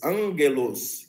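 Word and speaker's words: ἄγγελος: assim um lugar onde o primeiro Gama vai ser nasalizados vai ter o som parecido com g com n como n g sim então por exemplo na pronúncia clássica essa palavra aqui seria pronunciado Angelus Ângelos seria que vai dar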